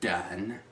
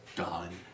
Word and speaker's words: Daohn: Not Daohn, but Daohn. You have to pronounce it like that.